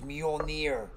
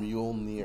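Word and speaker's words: Mjölnir: not the hammer by the way this is mjolnir can you even pronounce that mule near near thor's hammer okay it's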